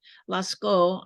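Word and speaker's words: Lascaux: in La laco France Lasco I think that maybe how you say it Lasco France representing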